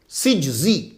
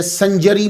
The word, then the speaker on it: سجزی: معین الدین حسن سجزی۔ تو یہ صحیح تلفظ جو ہے سین جیم زا یہ ہے سجزی۔ یہ کاتب کی غلطی کی وجہ سے سنجری مشہور ہو گیا، نقطے نے ہی